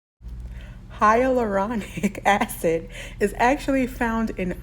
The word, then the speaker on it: hyaluronic: so it's just funny here's how you say it hyaluronic hyaluronic acid is actually found